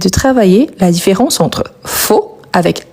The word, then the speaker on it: faux: Je vous rappelle que a + u en français, on le prononce o donc faux ou faux.